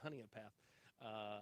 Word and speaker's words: Honea Path: how do you say it is it honey honey a path okay honey in path up here in South Carolina talking that Georgia's